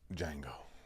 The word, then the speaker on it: Django: D is silent. Django.